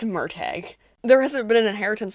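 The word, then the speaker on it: Murtagh: the next few months I've also been saying it wrong this entire time I always thought I say it as murtog it's murtag there hasn't been an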